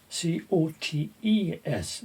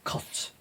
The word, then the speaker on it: cotes: C-O-T-E-S, not C-O-A-T-S. They used to make pigeon cotes, or some people pronounce it cots, pigeon cots.